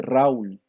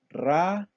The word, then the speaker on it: Raúl: Usted no dice Raúl, ni Saúl, ni Tia, ni Río. Usted dice claramente Raúl, Saúl, Tia, Río. Quiere decir que acá, aunque las vocales estén juntas, se pronuncian en dos sílabas.